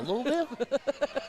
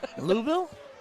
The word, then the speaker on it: Louisville: even got me saying it right now ah louville louville 16 whoa 16 double 16 to leave 26